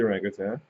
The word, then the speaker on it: orangutan: Oh, there's the orangutan. It's orangutan, not orangutan. People add a G at the end. It's not how it's pronounced or spelled.